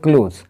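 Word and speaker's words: clothes: দেখলেন দা poor woman's ক্লোথস ওয়ার টন তো সেই গরীব মহিলাটির পোশাক আচ্ছা ক্লোজ এর উচ্চারণ হবে ক্লোজ আর একটা আছে সি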